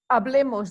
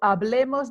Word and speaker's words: hablemos: the pointer on here remember the h is not pronounced in spanish so hablemos del tiempo el tiempo